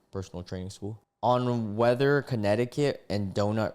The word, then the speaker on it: Connecticut: make it happen like Connecticut, you know, as like a way of saying like something especially like rappers, but the actual word Connecticut does not rhyme with donut.